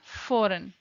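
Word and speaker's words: foreign: fort-2 आए हैं Jain forum जी silent रहता है इसके अंदर नेक्स्ट वर्ड है हमारा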